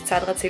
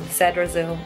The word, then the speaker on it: Zadrazil: In German we say Zadrazil. So my name is Sarah Zadrazil, but in English, like when I was in America, they used to say Zadrazil. So I would say the correct pronunciation is Zadrazil in German and Zadrazil in English.